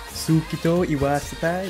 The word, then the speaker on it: Suki to Iwasetai: Suki to Iwasetai?